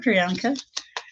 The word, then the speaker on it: Priyanka: For Priyanka.